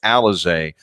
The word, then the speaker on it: Alize: Spells his name Alize, but it's pronounced Alize.